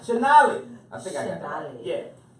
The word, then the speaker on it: Shonali: Dr. Tamale Oh no, she said don't say it like that. I was gonna say, that's definitely not how she said it. Shonali.